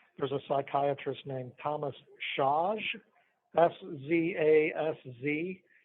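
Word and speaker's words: Szasz: a psychiatrist named Thomas shaj s-z-a-s-z I think that's Hungarian um I don't know how to pronounced but I think it's Josh he he spoke about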